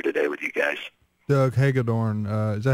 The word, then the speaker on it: Hagedorn: Doug Hagedorn, is that how you pronounce it, Doug?